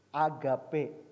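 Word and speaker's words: ἀγάπη: dalam bahasa kita itu bukan yetapi gama jage Agape atau di dalam bahasa Italia esnya agapao karena itu sesuatu yang aktif jadi Ini bukan bicara soal kasih biasa Agape yang tentunya sudah sering dengar adalah kasih Ilahi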